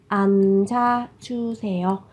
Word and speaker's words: 앉아주세요: Các bạn chú ý về cách phát âm ở đây là phát chim kép, phụ âm kép. Thế thì các bạn sẽ giữ lại một phát chim để các bạn phát âm. Các bạn phát âm là 앉아.